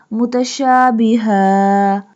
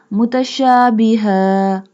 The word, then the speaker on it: مُتَشَابِهًا: Mutashabiha. Here we stop and doesn't pronounce the two fatha sign. We just say mutashabiha.